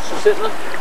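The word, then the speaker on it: Susitna: How do you pronounce the name of this river? This one's Sisitna.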